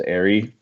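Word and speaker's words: Eyrie: gonna force people to pronounce the location properly as airy which serves to be pronounced so people don't get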